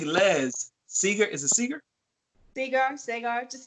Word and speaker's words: Segar: Segar. Just spell it right on the check.